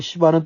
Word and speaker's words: 스바: 오늘 말씀에도 이 왕들이 조공을 바치며 스바는 이제 그 왕국을 말할 것이고 시바는 또 시바 여왕이라고 발음을 했는데 뭐 다 괜찮습니다. 스바 여왕, 우린 스바 여왕이라 그랬죠.